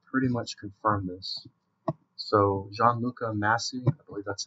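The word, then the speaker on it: Gianluca Masi: come out that pretty much confirmed this so Gianluca masse that's how you pronounce his name but in a bunch of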